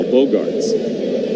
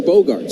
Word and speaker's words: Bogaerts: So here is Xander, who they have announced as Xavier twice now, Bogarts.